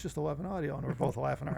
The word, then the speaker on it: Eleven Audio: and we asked him Michael, oh it's just 11 Audio. And we're both laughing our ass off because it's like we're trying to pronounce G audio.